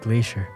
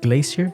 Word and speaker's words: glacier: How many times have I said Great Glacier? Alright, so 14 minutes in the video, apparently I have mispronounced glacier. It's not glacier, but glacier.